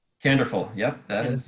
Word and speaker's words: Candorful: of kandor full is that correct did i pronounce it right canderful yep that is how to say it slowly